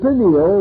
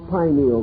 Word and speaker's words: pineal: The pineal or pineal gland, either pronunciation is correct, located in the central part of the brain, still remains the mystery gland of the human body.